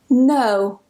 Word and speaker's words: know: Basically, whenever you get this combination of K and N together at the beginning of a spelling, we just don't pronounce the K. It's completely silent. Don't ask me why it's there. I didn't put it there. Someone else did. Blame them. So just don't pronounce the K. Go straight to the N and pronounce it as N.